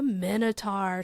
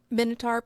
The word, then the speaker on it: Minotaur: about the minitar so you will see minitar pronounced minitar or menar um and that's because Greek the the language that it it comes from um the sounds aren't exact they aren't exact like one to one so I'm going to